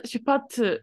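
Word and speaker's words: 出発: You had the right idea behind it, but you pronounced the bottom part wrong. Well, I guess shupatsu suru. I guess you said it right. It sounded weird when you said it for some reason. Shu, shu, shu. No, you're right. Shupatsu. There's like a lot of stop in there.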